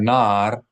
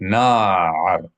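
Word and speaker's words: נַעַר: If you see a bolded vowel, it lets you know that you should pronounce that vowel with an ayin sound. So we see here the word nar, and this last syllable has an ayin. So not nar, not nar, which sounds more like flame or candle, lamp rather, but nar.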